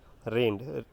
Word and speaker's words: reigned: अब ये जो स्पेलिंग देख रहे हैं आप, रेंड, REIGNED, तो यहाँ पर जी जो है वो साइलेंट होता है।